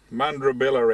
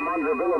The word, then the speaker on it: Mundrabilla: Mundrabilla, Ed. Copy? Oh, is that Mundrabilla, mate? Yeah, all right. You can pronounce it better than me, all right?